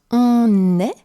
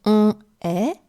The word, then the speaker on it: on est: So you heard me pronounce on est and vous êtes, and not on est, vous êtes. It would simply be too many vowel sounds together.